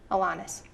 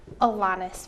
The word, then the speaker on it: Alanis: If Mark Goldie sees this video, it's Alanis. Oh, Yeah, gotta pronounce that name right. I'm sorry. okay. Go for it one more time. Alanis Morissette.